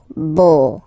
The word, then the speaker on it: beau: So remember this U combination of vowels only give you the sound O, beau, okay?